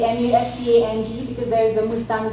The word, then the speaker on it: Mustang: trying to say here, because we have our own pronunciation. If you go to Nepal and say, I want to go to Mustang district, and they'll be saying, where on earth is Mustang district now?